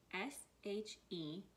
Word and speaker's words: she: at the beginning again s h e she now she rhymes with lee but this has two